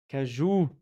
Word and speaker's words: cajou: Cajou, not cashew. Well, in French it's cajou, noix de cajou. Yeah. In English they say cashew nuts. No problem. Cajou, like the joue in Juliana. Yes, in French too.